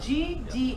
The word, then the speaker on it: Gdansk: It's spelled G-D-A-N-S-K.